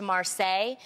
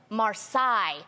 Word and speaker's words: Marsai: it's hot yeah I I just want to apologize to Marseille when she won her n double acp Image Award she's a lovely actress on blackish love her I said marsai so and I have